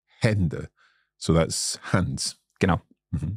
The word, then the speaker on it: Hände: And another one that has a slightly, like, I would describe it as a short A sound is like Hände. Hände.